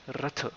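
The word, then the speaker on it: रथ: It is always lengthened that way if you're not a native Indian, but it can often be pronounced simply as the which is denoted by the schwa in linguistics. So Ratha literally means chariot, and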